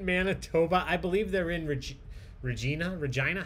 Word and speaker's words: Regina: So it's China. Regina. It rhymes with China.